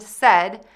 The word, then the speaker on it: said: Says and said, which are different verb conjugations of to say. To pronounce these words correctly, focus on the vowel sounds, not the spelling.